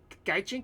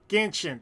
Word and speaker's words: Genshin: So this algorithm is the Gaijin community. Is that what I'm saying it right? Gaijin? Okay. So Genshin? Genshin, thank you.